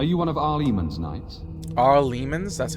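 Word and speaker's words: Arl Eamon: Ar Lemans, that's how you say it.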